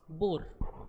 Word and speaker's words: Bohr: we pronounce him एस बोर Niels बोर H silent होता है Niels बोर अच्छा ये